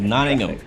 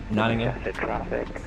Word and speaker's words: Nottingham: Oh right, I said it wrong. It's Nottingham. All like half the letters are silent, right? Nottingham.